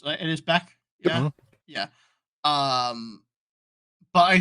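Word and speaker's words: Bech: I think it's how you pronounce it. It is Beck.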